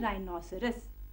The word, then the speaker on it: rhinoceros: गैंडे को इंग्लिश में कहते हैं राइनोसरस। क्या कहते हैं? राइनोसरस। इसकी स्पेलिंग होती है, थोड़ी सी लंबी स्पेलिंग है लेकिन नया शब्द तो है तुम्हारे लिए।